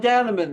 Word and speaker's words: Dannemann: This is at Popaholic, and I am talking with the Cyrkle and specifically Don Daneman. Did I pronounce that right? Don Daneman, that's Yes. correct.